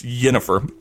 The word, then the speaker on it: Yennefer: and for a while i thought it was like the nordic or the yiddish jennifer but no it's it's spelt with a why it's yennefer she as a pretty internet